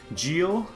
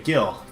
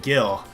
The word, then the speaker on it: Gil: genius X boat 016 Jill that is not how you pronounce my name but I'll take it Guild okay Gil thank you got it gill now I'll try not